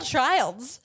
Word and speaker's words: Childs: It's Michelle Childs.